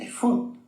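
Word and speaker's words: אפוד: efod se escribe Aleph, Fei, Dalet, y se pronuncia efod, tal cual.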